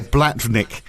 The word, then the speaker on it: Blavatnik: Can you pronounce that last name very carefully? Blavatnik.